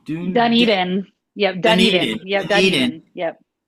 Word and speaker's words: Dunedin: She mentioned the sunscreen festival, and she mentioned I'm going to pronounce it wrong, but D- uh, Dunedin. Yep, Dunedin.